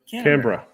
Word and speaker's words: Canberra: So, Octo, by the way, guys, how do you pronounce Canberra or Canberra? Canberra.